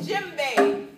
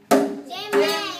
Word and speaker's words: djembe: Say djembe. Jimmy.